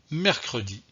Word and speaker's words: mercredi: premier exemple le mot mercredi mercredi ici le e de mercredi le e de mercredi est prononcé pourquoi il est prononcé tout simplement parce que le ici est situé entre quatre concernent voyez rcr et des